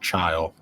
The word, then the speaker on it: Chile: So apparently in like Chile or Chile, It's Chile. it's chill. It's pronounced child.